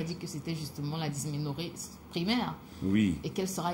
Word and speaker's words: dysménorrhée: On en a parlé hier, c'était la primaire hier, la dysménorrhée. Je prononce bien là, docteur? C'est bien ça.